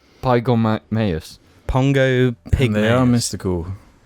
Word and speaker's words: Pongo pygmaeus: I think it's pronounced Pongo Pygmaeus. Pygormaeus.